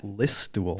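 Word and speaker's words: Listowel: a comedian raised in the small town of listul Ontario have you ever heard of that place Dave did he pronounce it right yeah listul perfect no I have not heard of events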